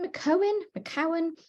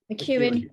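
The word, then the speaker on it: McKeown: Is it McCowan? This chap, McEwen. Thank you. I need a book about how to pronounce things.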